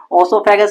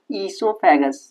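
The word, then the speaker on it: oesophagus: इसको बोलते हैं ईसो ओसो क्यों लिख रहे हो? अरे स्पेलिंग यही होती है इसकी। ओसोफेगस नहीं बोलते इसको। ई ई ईसोफेगस।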